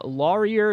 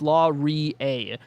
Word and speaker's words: Laurier: Uh, Laurier is what I said. It's Laura. Uh, source.